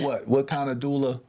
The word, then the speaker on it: doula: of a uh activist Community organizer she's a duelist I know I'm saying it wrong what's what's the what's the proper title it's what what kind of doula it's uh dream Doula dream doua so if